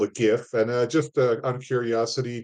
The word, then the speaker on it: GIF: And I ain't no soft G. Word, and don't you dare say it. I ain't no soft G. I'll give you a 4. That's right. He's a hard G.